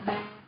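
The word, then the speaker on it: bà: And then for grandma, we say, it's like when we say dad, but now we need to go down.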